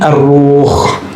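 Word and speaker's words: الروح: Bukan roh ya, ar-ruh. Kalau roh apalagi tuh ya. Bacanya ar-ruh pakai alif lam.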